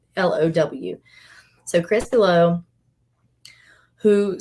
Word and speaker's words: Below: This guy has been keeping an eye on this other guy, this guy named Chris Below, and it's spelled like the word below, Bellow.